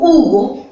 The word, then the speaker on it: Hugo: Pero se escribe con H, pero no tiene sonido, me parece.